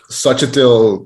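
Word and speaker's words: Xochitl: to pronounce her name i don't sachitl gonzalez that's how you pronounce it such a thing always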